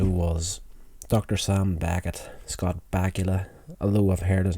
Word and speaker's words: Bakula: Sam Beckett, Scott Bakula, although I've heard his name been pronounced Bakula, but I like to say Bakula because it sounds like Dracula.